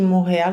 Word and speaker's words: Montréal: Lembrando que o T de Montréal não se pronuncia, né?